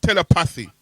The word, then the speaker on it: telepathy: There's a H there, Countryman. Countryman. I've been trying to tell you to put your tongue between your teeth and pronounce a H, but you're not doing it.